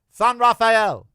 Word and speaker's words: San Rafael: It's So, it's San San Rafael.